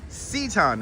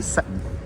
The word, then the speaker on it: Seton: So it is Seaton. I have been corrected on its pronunciation many times. Seaton, everyone. Elizabeth Ann Seaton. Like Seaton. See, that's my dyslexia. I say Seton. Or Seton. Seaton.